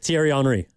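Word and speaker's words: Thierry Henry: Tierry Henri.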